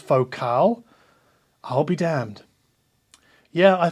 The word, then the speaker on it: Focal: comes from Ryan e and he writes it's pronounced focal I'll be damned yeah I think I learned that one the hard way a few years ago because I think I was calling them vocal for many years but no they're French and